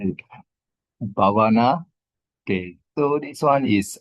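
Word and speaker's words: Bhāvanā: So here, if you look here, Bhavana, that means Bhavana. The word Bhavana is technically is a long A here.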